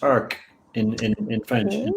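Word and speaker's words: Arques: r q s so Ark AR and it's pronounced Ark in in in French in Fr so you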